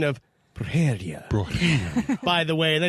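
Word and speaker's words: brujería: It's the emphasis on the syllables you're not getting. You tried, Dave. I can't do it, but And you got to roll that first R. yeah, if you hear it, Brujeria. the second syllable's got the emphasis, and it comes down and up again.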